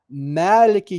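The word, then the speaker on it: مالك: So the difference is like Malik with a long A vowel, Malik, and then Malik with a short A, like a, short A vowel.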